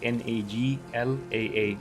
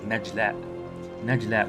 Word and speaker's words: Najla: And once again, the official pronunciation of it is Najla with a J. So it should have been written with a J, but because Egyptians are writing the names and stuff, they wrote it with a G, so it would be pronounced Nagla.